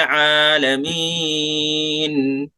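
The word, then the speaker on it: العالمين: ऐन को शेष निकालिए। अल्हम्दुलिल्लाहि रब्बिल आलमीन।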